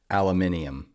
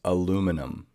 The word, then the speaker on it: aluminum: are barking fun times it is not aluminium it is Aluminum there let's just let's just